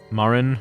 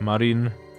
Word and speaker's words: Marin: from Link's Awakening um Marin or like Marin depending on like whether you like the uh the Japanese pronunciation or like the English pronunciation better no one can ever